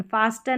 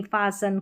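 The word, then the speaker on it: fasten: एस टी एन, एस टी एन, एस टी एन, तो लिस्टन नहीं लिसन, फास्टन नहीं फासन, कास्टल नहीं कासल, इस तरीके से कासल या कैसल।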